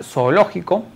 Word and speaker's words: zoológico: En la palabra zoológico encontramos dos O al inicio que deben funcionar como dos sílabas distintas. Por lo tanto, la pronunciación sería la siguiente: zo-o-lo-ji-co.